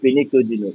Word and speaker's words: pnictogen: Don't call it pnictogen. It's nitrogen. The P is silent. That P is silent there.